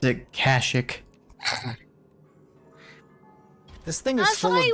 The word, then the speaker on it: Kashyyyk: I personally pronounce it Kashyyyk.